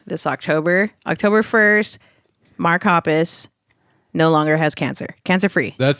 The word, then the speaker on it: Hoppus: No, it was Pappas. Pappas. Papas. Am I saying it right? Hoppus.